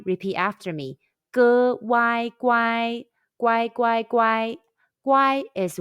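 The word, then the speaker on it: 乖: good y guy repeat after me good wai guai guai guai guai guai is well behaved in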